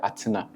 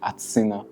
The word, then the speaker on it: Atsina: In maybe in Ghanaian we say Atsina. In Italian, because of the A, the T, Atsina. Atsina, yeah. You understand? So sometimes it's Atsina, sometimes Atsina, sometimes, but you know, it's how the pronunciation of the country. Yes. But now you are used to Atsina. Yeah, I'm used to Atsina, yes. The European one.